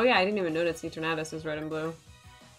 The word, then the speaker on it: Eternatus: Oh, yeah, I didn't even notice Eternatus is red and blue. Eternatus. I don't know why you say Eternatus. It like... I don't know why you say it like Eternatus.